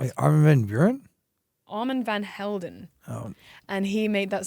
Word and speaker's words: Armand Van Helden: really liked, I like Armand, I pronounced his name wrong. Armand Van, let me get the pronunciation right. Wait, Armin van Buren? Armand Van Helden.